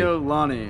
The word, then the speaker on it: Gio Lanni: you changed it cuz I always want to say Lon lizards you're not the only one I think uh Ken's done that once or twice I think well let's correct let say it correctly giol Lani which is my name Giani all right like